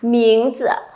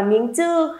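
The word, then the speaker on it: 名字: Các bạn đừng đọc là miếng chư hay miếng chữ nhé, thì nó sẽ chưa được hay lắm. Đọc thanh nhẹ chuẩn hơn cho cô một xíu nào.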